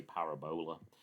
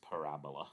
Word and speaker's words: parabola: if students haven't seen it before will say parabola but it's actually pronounced parabola so that's the curve that we get here